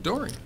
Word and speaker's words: Doring: Doring. Just like it's spelled Doring. Simple.